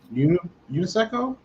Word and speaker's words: UNESCO: Yeah, you pronounce it. It's known best as a word. All right, which you pronounce pretty much how it looks.